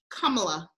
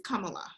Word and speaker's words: Kamala: She pronounces her name Kamala. Kamala? Kamala. I think it's Kamala.